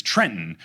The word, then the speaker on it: Trenton: state in America and the capital of New Jersey is Trenton which is spelled Trenton but if you say the second te in Trenton you are the police and I baffled that